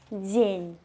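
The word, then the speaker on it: дзень: And in Belarusian it becomes день, d, z, yeah?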